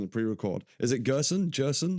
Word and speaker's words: Gerson: pre-record is it Gerson jerson how do you say your name Gerson it's just like person except with a G I got it right